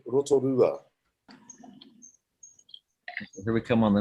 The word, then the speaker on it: Rotorua: I'm born in a town called Rotorua.